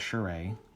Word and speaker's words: Charest: it, just look for Travis Charay, which is last name is spelled Charest, Charest. Look for that, and then Wildcats X-Men.